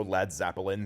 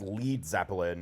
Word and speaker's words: Led Zeppelin: oomph than balloon so lad Zeppelin they became they removed the a from lead to ensure people specifically American listeners wouldn't mispronounce it as lead Zeppelin and the rest is